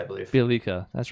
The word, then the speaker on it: Bjelica: Bjelica, I believe. Bjelica.